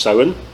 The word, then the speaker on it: Samhain: So the first one is actually tied into Halloween, which is in Irish pronounced Samhain.